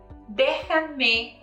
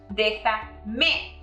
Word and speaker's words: déjame: Observe how we added un acento en la E, an accent mark on letter E. This is to preserve the original intonation.